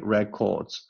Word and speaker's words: records: And then they used public records. 我没有读成 public records, OK, public 这可以非常的迅速，非常的弱。Records 标准 records 前名后动，这里是名词，所以呢重音在前面。Records for the next 5 years to find out who died.